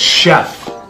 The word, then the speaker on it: chef: this word is Chef no it's Chef you don't see how it's because it's French oh that's why okay